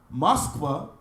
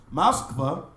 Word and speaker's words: Moskva: Moreover, according to a legend, first appearing in Kievan Synopsis, 1674, Moskva, that's how the Russians pronounce the name, Moskva, was founded by King Mosca, son of Japheth.